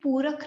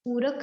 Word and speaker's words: Puraka: Actually, A is only added when we write these things in English. So it's actually Purak, Rechak and Kumbhak. If you want to get the right pronunciation, it's Purak, Rechak, Kumbhak. Right?